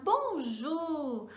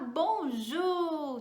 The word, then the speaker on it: bonjour: o ac que significa isso né vamos lá bonjo muitas pessoas têm tendo do ju como bom